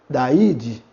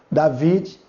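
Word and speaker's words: Δαυίδ: David seria Daide. Daide. Mas você pode perguntar, mas não é um V. Em algumas pronúncias, O Y, juntamente com iota, ele vai ter esse som de V em algumas pronúncias. Tá ok? Então, tanto como Daid como David está correto.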